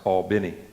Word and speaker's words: Albany: church in Albany Georgia that's pronounced Albany in Albany Georgia I while I was